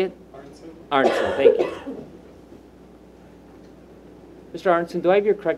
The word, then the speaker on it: Arntzen: Arntzen, thank you.